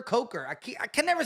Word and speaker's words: Coker: I keep saying Cooker. Coker.